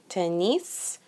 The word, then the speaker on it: tennis: foot Le tennis Le tennis here we're pronouncing the S at the end it's a little abnormal tennis is volleyball and